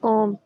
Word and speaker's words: comb: B is silent. Comb, bomb.